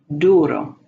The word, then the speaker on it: duro: U, as in chew. Duro. I'm going to back up. It's important that you remember it's not a U with a Y sound at the beginning, but an U sound.